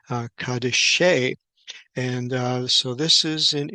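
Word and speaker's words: קדישי: And here the word is Kof, Dalet, Yod, Shin with a final Yod at the end and be pronounced Kadeshe.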